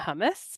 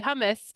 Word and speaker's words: hummus: She's the co-owner of Hummuna Hummus, making hummus in Idaho.